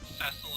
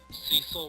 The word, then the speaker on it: Cecil: Or no, I thought Cecil was Cecil, and then someone told me it's pronounced Cecil, so I started thinking of him as Cecil. And then DS came out with voice acting, and it was Cecil again.